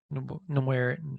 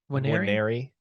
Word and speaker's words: Nwaneri: I mean, that's a guy that Nawari. How do you say it? Waneri. So the N silent.